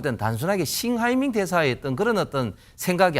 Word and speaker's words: 싱하이밍: 제가 볼 때 뭐 또 보복한다는 것은 조금 예상하기 좀 힘들고 지금 싱하이밍 그 대사를 보면 저도 좀 아는데 그 한자가 우리나라 발음으로는 형해명입니다. 형해명인데 형해명 우리 발음으로 읽으면 그런데 싱하이밍 대사는 좀